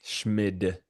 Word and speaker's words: Schmid: Schmid.